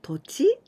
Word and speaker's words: 土地: This と this is 土 soil or 土曜日 like 土曜日土土曜日 but here we pronounce と and 地 the ground so 土地 this is the land.